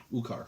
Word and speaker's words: Ukar: Oh, Ukar. like you're okay.